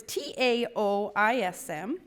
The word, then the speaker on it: Taoism: living a christ-centered life Taoism is actually pronounced with a D but it is spelled with a T so it's T AO is M but we say it